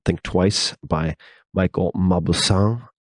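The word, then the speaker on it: Mauboussin: think twice by Michael mausan believe that this how you pronounce his name m Au u b o u SS i n and you can also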